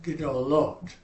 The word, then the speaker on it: gedolot: We're going to try and keep it as close to 2 syllables as we can. Feminine singular is gedolah. Masculine plural is gedolim. Feminine plural is gedolot.